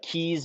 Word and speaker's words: Kees: so my Instagram handle and I believe Facebook is Keys Metalworks, and Keys is spelled Kees.